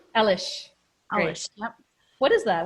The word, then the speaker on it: Alish: Alish. Alish.